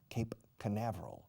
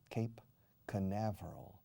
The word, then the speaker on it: Cape Canaveral: He simply went up from Cabo Cañaveral, Cape Canaveral. Fijaos cómo se pronuncia. Cape Canaveral. Se escribe Cañaveral o Canaveral, pero se pronuncia Canaveral, Cape Canaveral.